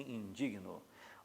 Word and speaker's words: indigno: Então, o certo é eu me indigno. A sílaba tônica está aqui, ó. Eu me indigno. E não é indigno, e sim indigno.